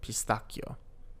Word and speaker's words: pistacchio: Al pistacchio, with pistachio. Notice in Italian we have 2 C's in the word pistacchio, and we pronounce it with a K sound, pistacchio, instead of a sh.